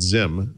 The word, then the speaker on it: Xim: released an app called Zim for Windows phone and Android it's spelled with an X so it's xim and basically what they're